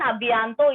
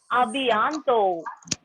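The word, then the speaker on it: à bientôt: Ensuite, the next one, second one is abianto. Abianto. Wait, abianto. Abianto means see you soon. Okay, everyone, abianto is see you soon. Ending letter T will be silent here. Abianto.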